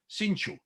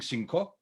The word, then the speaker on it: cinco: she was pronouncing it the way it's pronounced in sarajevo ladino i'll give you just